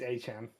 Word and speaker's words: Etienne: He actually told everyone that everyone's been saying his name wrong. Yeah, it's Etienne.